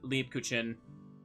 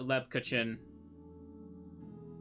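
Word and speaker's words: Lebkuchen: was wrong sorry okay so it is leap leap kuchin not uh Le Leb kuchin le le cin just going to say it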